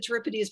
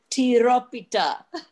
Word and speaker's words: tiropita: But I have, right now I have spanakopita and however you pronounce it, I always said tripodes, but how do you pronounce it again, Cynthia? Tiropita.